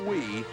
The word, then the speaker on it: Wie: Michelle Wie, the 13-year-old 8th grader. Did who you see could the drive beat she had anybody in this building. Well, Annika Sorenstam is playing so well. And but Michelle Wie, an 8th grader, 13, and she was mad